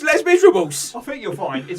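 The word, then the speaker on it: Les Misérables: wrote a book called lay miserable us and it was like the miserable and whose Les Miserables in it I think you'll find governor that is pronounced Les Miserables I think your point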